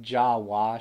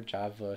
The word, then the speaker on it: Java: Should be pronounced Jawa Shogi instead, never Java Shogi.